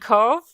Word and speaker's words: Cobh: Yeah, and Cove in Ireland is spelled Cobh.